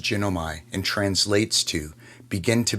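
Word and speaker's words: γίνομαι: In the original Greek is pronounced ginomi and translates to begin to be, to come to pass, to be made, finished, rot, happen.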